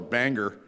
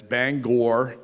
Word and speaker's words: Bangor: here they uh actually told me how i pronounce my hometown what's i call the banger but uh it's bangor maine um carl is uh